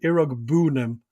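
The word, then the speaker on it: Iroegbunam: how to say it iraq boone'm he puts the emphasis on the boo era okay where were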